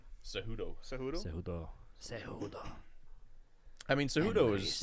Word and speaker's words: Cejudo: Cejudo.